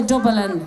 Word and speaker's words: Dublin: to dublin um and you have to say dublin with three syllables to get it right rob a little